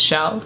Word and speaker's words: Chell: makes me smile because although it's spelled like seashell my name is chell so you know that